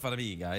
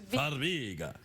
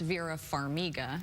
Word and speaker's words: Farmiga: Well, I'm Ukrainian of heritage, but it does sound Italian. It does sound Italian, Farmiga, but it's not Farmiga, it's Farmiga.